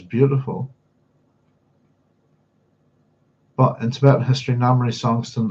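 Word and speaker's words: Namri Songtsen: but in Tibetan history Namry Songst uh Namry Slongston that's how you pronounce it was a significant figure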